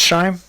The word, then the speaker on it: Schelm: Now, Amy, is your last name pronounced Scheim?